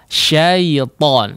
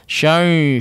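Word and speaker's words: شيطان: Ya, ya sukun yang menjadi huruf lin di sini diperjelas pengucapannya betul-betul hanya menyentuh ya atau makhraj huruf ya atau menjadi betul-betul ya sukun syaitan, syaitan, syai, syai, syai. Nah, ini tidak diperkenankan.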